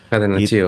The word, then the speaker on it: catenaccio: Itu catenaccio-nya, apa bacanya? Catenaccio. Catenaccio.